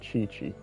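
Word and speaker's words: Qiqi: Chi-Chi is how you pronounce her name, you guys. Chi-Chi.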